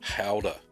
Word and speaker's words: Gouda: I've recently attempted another 2 of your cheeses, a second attempt at Camembert and a Gouda, or Howder, as we know how to pronounce it now.